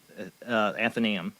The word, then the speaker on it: Athenaeum: I always mispronounce it. Athenaeum or Thenum? How do you say it? The Athenaeum, yeah. Athenaeum.